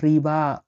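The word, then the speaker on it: рыба: মিয়াসো মানে মাংস মাংস মিট মাছ মাছকে রাসায়নে কি ডাকা হয় মাছের রাশি রাখা হয় রিবা রিবা মানে হল মাছ রিবা মানে মাছ দেখুন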